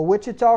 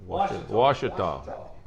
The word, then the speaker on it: Ouachita: I ain't said it right all year. A Wichita Christian Washita.